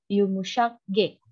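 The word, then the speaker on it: yumuşak ge: G yang pakai tanduk itu dibacanya Yumushak G.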